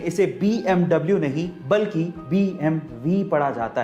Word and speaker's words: BMW: In fact एक सर्वे के अनुसार 95% तक लोग इसे BMW ही पढ़ते हैं, लेकिन एक्चुअली इसे BMW नहीं पढ़ा जाता। इसका सही उच्चारण है BMW।